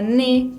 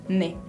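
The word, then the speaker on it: nez: por fin la zeta la zeta no se pronuncia por ejemplo la palabra ni que significa nariz se escribe en ez no pronunció la zeta final pronunció ni bien esas son muy importantes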